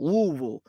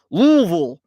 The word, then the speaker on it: Louisville: Louisville like uh it's the correct pronunciation is using as few syllables as possible Louisville Louisville what's up baseball card